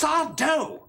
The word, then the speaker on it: Sardo: boy visits Mr sardo it's sardo no Mis Accent on the D he purchased magical items